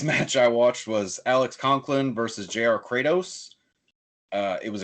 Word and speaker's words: Coughlin: what's his name uh alex conklin but it's spelled coughlin he's got a fabulous